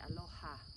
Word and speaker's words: aloha: So when you say, when we say aloha, we say aloha, pronouncing the H, and ha is the sacred breath.